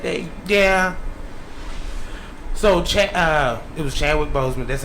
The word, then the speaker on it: Chadwick Boseman: So, it was Chadwick Boseman.